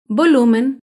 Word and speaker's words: volumen: Volumen se acentúa en la penúltima sílaba, pero no lleva tilde porque termina en N.